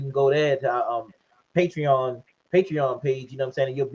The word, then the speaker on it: Patreon: Is it Patreon or Patreon? Patreon. Patreon. Patreon. Yeah, Patreon.